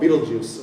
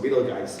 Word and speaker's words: Betelgeuse: It's called Betelgeuse or Betelgeuse. You can pronounce it both ways.